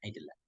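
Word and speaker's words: العدلان: Al aidelan bi kasril ain, bacanya kasrah ain, aidelan.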